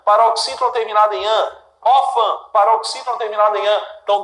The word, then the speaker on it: órfã: ímã e órfã. Ímã e órfã. Duas palavras aqui, olha, divisão silábica. Ímã, órfã. Sílaba tônica, im, or. Sílaba tônica é a penúltima.